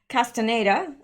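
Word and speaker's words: Castañeda: The Secretary of Public Security, Cristobal Castaneda Camarillo. I know the 2 L's are pronounced like a Y.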